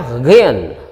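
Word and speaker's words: غين: again Line tulisannya adalah g h i n dibacanya Hagen Rin keluar dari tenggorokan Kin ya bukan huruf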